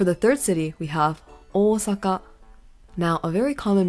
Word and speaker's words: Osaka: third City we have Osaka now a very common mispronunciation that I hear is Osaka which is very Americanized understandable but always remember that the O in Osaka is elongated really iconic place in